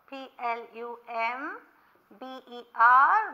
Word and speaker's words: plumber: well door plum ball PL um ber but B is silent so we say plumber okay be silent well